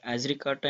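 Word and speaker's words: Azadirachta: फिर है एजरिकाटा indica is the scientific name of. देखिए यहाँ पे जो डी है, ये डी साइलेंट हो जाएगा जब इसको बोलेंगे आप, एजरिकाटा इंडिका।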